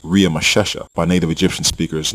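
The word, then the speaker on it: Ramesses: the royal name Ramsey in which was actually pronounced RI mashesha by native Egyptian speakers not Ramsey the Egyptian name in Genesis 4711 and exodus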